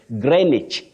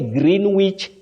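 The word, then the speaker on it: Greenwich: say February Titus Bravo you say greenich or greenich don't say green Wich Meridian time no green witch no you say greenich Meridian time or green that W is silent we have manasa temp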